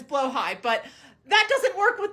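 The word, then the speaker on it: Blåhaj: recently i got a blah just for the bit which i think isn't really haha funny but is blah huh and before somebody corrects me i know the correct pronunciation is blow high but that doesn't work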